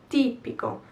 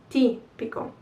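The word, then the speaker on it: tipico: chi in the plural where is the accent ti pico so on the first i t pico so the plural is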